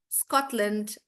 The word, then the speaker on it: Scotland: Also, guys, all the countries that end in land, you don't pronounce it as land. You again make it really short. So it's more like England, Scotland, Iceland. So again, you don't pronounce the A, you make it shorter.